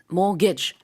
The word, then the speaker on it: mortgage: 발음은요, mortgage, two syllable, 두 음절입니다. 그리고 mortgage 이렇게 발음을 앞에 강세가 있게 하면 되겠고요. 가운데 T가 들어가는데 이건 발음하지 않습니다.